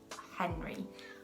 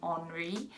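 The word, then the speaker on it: Henri: names my first one is henry or as the french say henry i love this name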